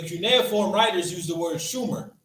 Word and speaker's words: Sumer: So, in the cuneiform, it was Shumer, not Sumer. Read. To identify the region. Moreover, in accordance with the Sumerian phonetic law of admissibility, final consonants were not pronounced in speech. So final consonants in cuneiform were not pronounced in speech. Okay, this is very important to understand. Read. This means that the Sumerians most likely pronounced Shumer as Shum.